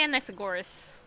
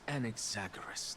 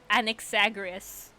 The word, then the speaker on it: Anaxagoras: I've been saying his name wrong. Oops. I'm still going to say how I say it. How does he say it? I say Anexagoras. That's Anexagoras to you. It's Anexagoras. Anexagoras sounds better.